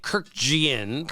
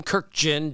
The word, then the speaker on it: Kurkjian: taught to say it most people would say Kiran but we run it together and it's Tim kirkin Jeff kirken those are when you